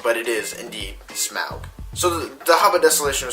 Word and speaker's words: Smaug: that is a you that is how you pronounce it technically a lot of news reporters like to say smog but it is indeed smell so the hubba desolation of smog follows you